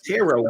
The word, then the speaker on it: tarot: a few times yeah teror last is silent said good tarot cards yeah so what's